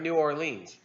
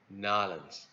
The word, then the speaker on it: New Orleans: phone we were at New Orleans no no no nollans you gotta say it like you lived there your whole life oh I guess I'm